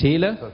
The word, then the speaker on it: Thiele: employment policies welcome uh thiele am i pronouncing that correctly perfect tila yeah alice is the vice